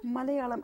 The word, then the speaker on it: Malayalam: And while you have written various things in French, Hindi, pronounced Malayalam? Malayalam.